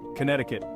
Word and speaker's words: Connecticut: Lily next we have Connecticut please forget the see hey there history Buffs